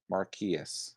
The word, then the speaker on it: Marquis: pocket uh marquis yes marquis hello it's cool everyone butchers my name but it's pronounced marquis marquis marquis am i getting it right i actually